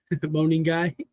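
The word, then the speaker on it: Monangai: So, Kyle Manungai, I'm glad that one I could pronounce his name and two that he went off and we're all right together for once. Moaning guy, I said it right, Jamie.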